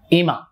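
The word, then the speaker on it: 今: এই কাঞ্জির বাংলা উচ্চারণ হচ্ছে ইমা। ইমা মানে এখন, এই, এই মাস, আজ।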